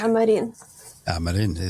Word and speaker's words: Amarin: Am I pronouncing your surname correctly? Yes, Amarin.